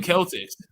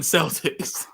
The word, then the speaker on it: Celtics: they killed people um it's actually pronounced Celtics here so he kept saying the Boston Celtics it's the Boston Celtics here like I understand